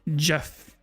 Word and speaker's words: GIF: Uh, and uh, Zombie Pan says GIF as a peanut uh, butter brand. I say gif way g is gif as in gift.